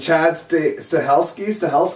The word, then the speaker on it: Chad Stahelski: David Leitch, and Chad Stahelski, Yeah.